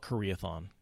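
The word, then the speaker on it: Karaethon: pronounce that again Kerith I call it Korea thong yeah Korea like the country athon what happens if you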